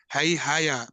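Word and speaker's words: Haihaya: Yadu dynasty haya ada and others like King Hihaya bra is it hihaya or am I saying it wrong pronounce pronouncing it wrong yes it's right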